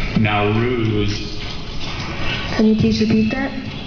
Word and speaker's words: Nowruz: the language ofion please it's from Persian now ruse are there any alternate